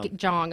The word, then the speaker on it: Jeong: Jeong, okay.